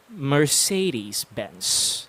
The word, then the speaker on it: Mercedes-Benz: get this accurate it's supposed to go as mercedes-benz say that for dude one more time mercedes